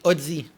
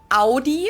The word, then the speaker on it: Audi: first one is aie most Americans that I me I say odzi and because I'm French I say ozi or ozi OD do you say that a again I know pronounce it like I just said it AI in German we say Audi a Ai and there's actually Audi yeah but Audi isn't like hey howdy how are you in America they see